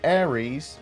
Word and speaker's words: Ares: And we saw a picture of the Austin office with Crusader Ares 2020, and it's spelled Ares like the god of war, not Ares like the star sign.